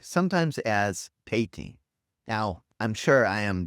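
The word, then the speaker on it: 화이팅: so forgive me, but Korean has no hard F sound, so fighting softens. The F becomes an H or more of a gentle P.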